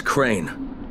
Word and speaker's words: Crane: store no my name's crane crane crane rhymes with train and brain and San and Grain and rain and plain and the other kind of of plane and and can I